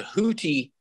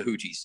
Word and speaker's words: Houthi: let's talk about iran's tenuous relationship with the houthi did i pronounce that correctly huti yes movement in yemen and you describe it